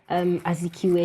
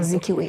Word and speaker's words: Azikiwe: you didn't know, but I mean, I think you still had it right with Nnamdi Azikiwe. Is that the pronunciation? Yes, of the name? Azikiwe. Azikiwe.